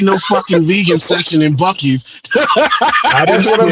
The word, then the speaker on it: Buc-ee's: BUC-EES. That is country as hell spelling. No K. Yep. Just a Buc-ee's. On the bucket. You gotta say it like funny. Southern with some Southern twang.